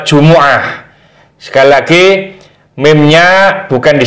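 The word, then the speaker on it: جمعة: dapati hati-hati cara membacanya dalam lafadz jumu'ati huruf ainnya ini berharakat dhammah bukan sukun jadi bacanya bukan di sukun tapi mimnya harus di domah ini sebagian diantara kita ada kekeliruan karena Jumat itu adalah bahasa Indonesia bahasa Arabnya adalah Jumuah Sekali lagi mimnya bukan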